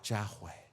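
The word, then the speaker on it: Yahvé: adiós para celebrar adiós para yahoo esa es la pronunciación correcta que ellos tenían yahoo en lugar de jehová o sabe cómo lo castellanizados pero en español es jehová o sabe es noche para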